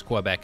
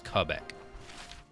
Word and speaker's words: Quebec: cool so it's just some folks pronounce it one way and some folks pronounce it the other I'm glad to know